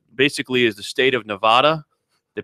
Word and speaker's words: Nevada: They have what basically is the state of Nevada. They pronounce it Nevada.